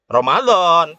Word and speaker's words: Ramadan: Oke, dibacanya apa? Ramadan, tetap bahasa Arab.